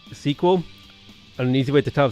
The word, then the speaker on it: SQL: i was looking for sql is always pronounced sequel an easy way to